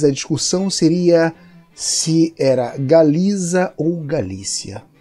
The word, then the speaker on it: Galiza: E preste atenção na forma como eu pronunciei, Galiza.